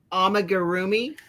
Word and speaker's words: amigurumi: I've never done amigurumi.